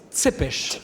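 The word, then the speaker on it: Țepeș: était VL t oui je me permet de rectifier la prononciation les rouains disent C pêche oui alors justement on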